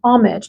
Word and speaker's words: homage: It is an ode, an honoring, an homage or homage. Do you pronounce the H?